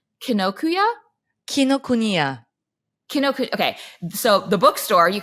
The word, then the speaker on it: Kinokuniya: There is an international edition that you can get from, tell me if I'm pronouncing this right, Kinokuniya? Kinokuniya.